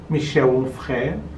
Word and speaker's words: Michel Onfray: Um que se chama O Ventre dos Filósofos, que é desse pensador francês chamado Michel Onfray. Com essa pronúncia, porque eu provavelmente diria Michel Onfray, mas não é, porque ele é francês.